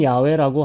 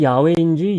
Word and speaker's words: 야훼: 더러는 야훼라고 하기도 합니다. 우리가 야훼인지 여호와인지 알 수 없는 이유가 성경에서 히브리어의 모음이 원래 없었기 때문입니다. 그래서 그 발음의 차이가 있었고 유추할 수밖에 없었던 것입니다.